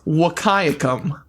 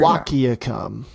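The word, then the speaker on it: Wahkiakum: So it's wakayakum/ beautiful county right there. Right in southeast Washington right along the Oregon border. Wiaakum.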